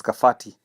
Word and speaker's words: Kabati: So initially in the old Kiku language letter B is pronounced as letter F and so for kabati they read it as kafhati.